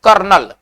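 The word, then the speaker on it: colonel: ओ एनई एल कर्नल देखिए इसका spelling अलग है उच्चारण अलग है सेना में जो कर्नल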